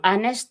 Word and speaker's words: honest: So like honest 'di ba ang honest hindi naman talaga pina-pronounce yung letter H yung hospital naman talaga yan hospital kundi hospital 'di ba?